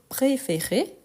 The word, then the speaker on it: préférer: Mais quand on conjugue, donc préférer, le E bien prononcé, pourtant, quand on l'utilise conjugué au présent et aussi au futur simple, il faut faire attention.